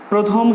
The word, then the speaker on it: প্রথম: আমরা বললাম যদি রফলাযুক্ত আদ্য অ হয় তাহলে সেই অয়ের উচ্চারণ হবে কিসের মতো? ও এর মতো। তাহলে তোমরা উচ্চারণ করে দেখো, প্রথম, প্রথম।